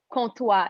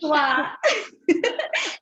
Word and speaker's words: Comtois: Today I have Claudia Comtois. Is that how you pronounce it? Comtois. Yes, it's French. Comtois.